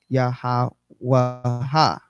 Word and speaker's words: Yahawah: So in the Hebrew, it'd be Wah, doubling the final He or Ha pronunciation, the ending as Ha or Ah, right? Sometimes to emphasize each letter. So this yields the 4 syllables Yahawah.